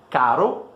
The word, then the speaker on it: caro: A única coisa que mudou realmente é a duração desse R no primeiro caro e no segundo carro, né?